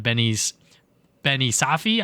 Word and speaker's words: Benny Safdie: And then we also got Benny Safdie, I believe is how you pronounce his name, as Bowser Jr.